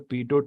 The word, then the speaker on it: pitot: o t o t the last t is silent it's okay if you call it pitot also we grew up